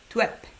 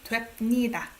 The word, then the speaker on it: 됩니다: I don't pronounce it as dwep, right? It's hard to say 됩니다. This one ends up being 됩니다, M sound. Okay?